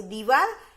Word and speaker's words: दीवार: तो दीवार, ये दीवार, ये दी ई की उच्चारण हमें थोड़ी लंबी खींचनी पड़ती है।